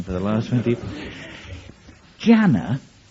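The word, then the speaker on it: Gianna: Jana is spelled g-i-a-n-n-a if you're trying to use word association the only thing I can think of is spanner if you think about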